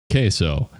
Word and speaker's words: queso: You hear the Q sometimes pronounced with the K. Just assume it's pronounced with the K. Queso, and you're fine.